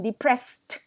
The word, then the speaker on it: depressed: more confused depressed depressing that's the pronunciation depressed like a tea at the end all right so depressed